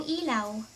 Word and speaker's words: ilaw: "Paki patay ng ilaw."